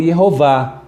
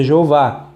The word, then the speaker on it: Yehová: Então, E é Shevá, Rolam é O e Kamatz é um A. Então, A, Jeová ou Yehová. Em hebraico é Yehová, em português é Jeová.